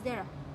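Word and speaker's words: Deira: I'll spell it out. D-E-I-R-A. That is Dera.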